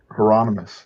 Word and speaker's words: Hieronymus: correct me because I always say this guy's name wrong. Hermione is Botch or Hieronymus Botch. Hieronymus, yeah.